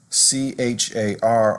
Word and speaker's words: char: double most fractions double c-h-a-r often pronounced char is actually for a